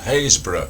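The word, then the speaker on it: Happisburgh: I happen to have been there and I happen to know it's called Hayesbor which is never mentioned. So if you do read this book you can silently pronounce it correctly in your head.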